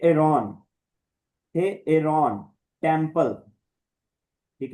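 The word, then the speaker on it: ἱερόν: इस वजह से अयोटा को भी अलग से प्रोनाउंस करेंगे। इ्सिलोन को भी अलग से करेंगे और अयोटा के ऊपर रफ ब्रीथिंग है तो हे एरोन ठीक है।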